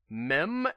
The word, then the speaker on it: Mihm: talking about the miniverse mem as in like like meme but without the e at the end as in Christopher are mem which is spelled mi hm okay is Christopher armed